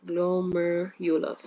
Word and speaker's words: glomerulus: With this bad pronunciation, but glomerulus, right?